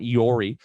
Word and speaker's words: EORI: not going to matter an eori number or an iori as some people pronounce it is effectively a passport